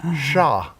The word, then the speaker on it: chat: You can get a wobbly, which is also the French spelling for cat, but it's pronounced sha French don't like me, guys.